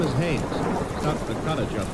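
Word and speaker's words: Haines: Yeah, his name is Haynes.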